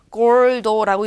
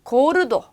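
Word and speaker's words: gordo: 자, 앞에서 한번 말씀드렸으니까 골도라고 읽는 분이 없겠죠. 고르도, 고르도, 구아뽀, 구아뽀.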